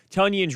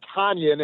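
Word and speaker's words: Tonyan: We had all been calling him Tanyan, and finally, after he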